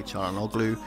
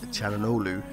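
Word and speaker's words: Çalhanoğlu: or CH chhanu blue there's no G basically it's a silent G basically so say it however you want I used to always say chogo it's cholu so anyway that's enough of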